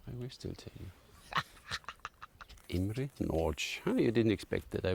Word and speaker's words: Imre Nagy: want to know I will still tell you IM NCH you didn't expect that I would pronounce his name right know good that I